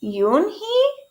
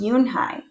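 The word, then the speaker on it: Unhei: Your name is Yoonhee? He asked with his eyes open wide. Yoonhai looked quickly at Mr. Kim, then turned to Joey. She nodded slowly. Yes, it's pronounced Yoonhai.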